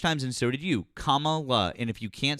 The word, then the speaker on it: Kamala: Well, um, so Matt, you say Camala Harris would be a better president.